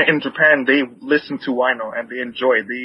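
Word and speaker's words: huayno: But for some reason, a lot of Japanese, even in Japan, they listen to Waino and they enjoy it.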